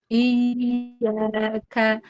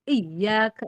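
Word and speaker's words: إِيَّاكَ: Iya ka. Jadi i kan ditekan tapi dia jangan iyaka jangan tertahan. Iyaka iyaka tetap rakwah walaupun ditekan tetap dia ngalir.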